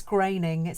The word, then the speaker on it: Groening: Did you know that the Simpsons creator, Matt, I think it's Groening, I never know how to pronounce it. It's sort of spelled Groening, but Groening, yeah, okay, I think Matt Groening, named the characters after his own family names.